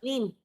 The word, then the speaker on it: Neem: Neem. Lane. Neem. Like neem. Neem. Neem oil.